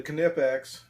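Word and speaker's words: Knipex: has a similar tool okay Sam something the canoe pecks and yes guys that is how that's pronounced he's got the kinetics Cobras I have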